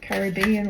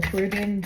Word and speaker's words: Caribbean: These cards were very active while I was traveling across the Caribbean, or Caribbean, however you want to pronounce it. We're Australian, so we say Caribbean.